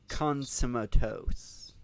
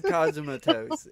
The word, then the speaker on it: Cosmatos: should talk about Mandy, which is directed by a Panos Konsumatos.